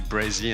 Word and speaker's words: Brey: of my name it's just say brei and not Bri but like I mean